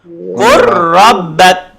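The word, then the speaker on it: قُل رَبَّكَ: Contoh kat sini qul rabbak. Bacanya menjadi qur rabbak. Lam hilang masuk ke ra.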